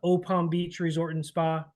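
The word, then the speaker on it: Eau Palm Beach Resort and Spa: that would be uh opal Beach Resort and Spa it's spelled eaau Palm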